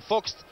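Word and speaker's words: Vogts: D'ailleurs, le nom, là, je dis de temps en temps Vox et de temps en temps Fox, parce que je prononce de temps en temps à la française, de temps en temps à l'allemande, alors, bien sûr.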